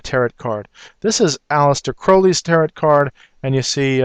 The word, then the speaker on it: Crowley: card this is Alistar Crowley's tarot card and you see uh uh he wanted his name actually pronounced Crowley instead of Crowley because he wanted to rhyme with holy and I don't want